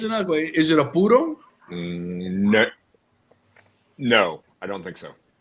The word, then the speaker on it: puro: So What's a puro? So Okay. a puro. Okay. All right. Hey Jay, we got to say it right. Un puro. Okay, puro. Puro. Not puro.